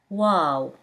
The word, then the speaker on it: و: He, pronounced as H. Wow.